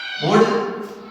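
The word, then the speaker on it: would: कि डी आ जाए, तो याद रखना है एल के साथ अगर डी आता है तो फिर हमें एल क्या करना है, इसमें भी साइलेंट रखनी है। जिस तरह से मान लिया हम लोग कर सकते हैं गुड, उसी तरह से वुड, उसी तरह से शुड।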